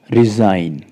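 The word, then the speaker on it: resign: त्याग पत्र दे देना तो आर ई एस आई जी एन यहां पर भी एन से पहले जी है तो साइलेंट रहेगा ऐसे साइन जो आप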